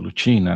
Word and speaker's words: Lucina: Lucina, aqui se entende que seria Lutina, né, na tradução, na pronúncia eclesiástica.